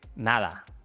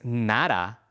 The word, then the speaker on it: nada: Pero escucha, no es nada con la d del inglés. Cuando la letra d aparece entre dos vocales o al final de la palabra, el sonido es más suave. Nada, pedir, verdad. Este sonido es similar al sonido th del inglés, pero incluso un poco más suave.